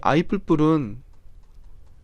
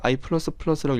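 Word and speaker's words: i++: 이 i 뿔뿔은, 그래서 i 뿔뿔이라고 많이 있는데 i는 i 플러스 1이라는 뜻이에요. 이거 원래는 i 플러스 플러스라고 읽어야 되는데 그냥 뿔뿔이라고 많이 읽습니다.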